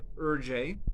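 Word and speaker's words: Hergé: newspapers so the author whose name i believe is pronounced something like urjay had to go back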